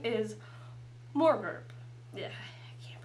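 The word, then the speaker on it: Morgort: poliwog for this my name my name is more burp yeah yeah he pronounce it very well it's m-o-r-g-o-r-t more Corp uh the Knight of warts the Knight of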